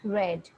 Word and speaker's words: read: We have the same V2 and V3 for read, but we know when it is past, we pronounce it read.